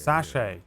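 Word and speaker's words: sachet: I think the the general store in Blackwater sells a bunch of those satchets. It's sache. It's it's pronounced sache.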